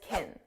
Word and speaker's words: can: the ropes now notice can because this is an auxiliary verb it's not the main verb it's pronounced as kin kin it's an unstressed sound kin can you show